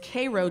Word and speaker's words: Cairo: East, K-A-I-R-O, in your books would probably be pronounced Cairo, but Egypt, but it is Cairo, Georgia, where Jackie Robinson was born and where